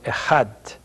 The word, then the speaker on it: echad: The number would be pronounced today echad, 1.